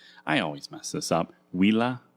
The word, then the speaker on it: Huila: And I think it's pronounced, I always mess this up, Huila. I think it's Huila, but it looks like it says Julia.